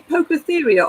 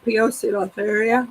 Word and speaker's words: Poecilotheria: Well, as I said, so do you say Pocotheria or Poecilotheria? I say Pocotheria. Pocotheria. Yeah, I How say do you- Pocotheria. Pocotheria. I'm just read. How do you say it? Some people Pocotheria. Ren? Yeah, some people say Poecilotheria, don't they? How do you say it, Ren? Pocotheria. Yeah, see some say Poecilotheria. Yeah, It's I'm Pocotheria. Poe, and that to me spells Po. Yeah, there's a Poco.